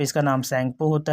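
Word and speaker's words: Tsangpo: China में originate होता है, वहाँ पे इसका नाम सैंगपो होता है, टी साइलेंट होता है, टी सैंगपो लिखा जाता है, TSNGPO।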